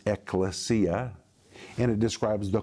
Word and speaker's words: Ecclesia: when you compound the two words together it's pronounced Ecclesia and it describes the called out ones and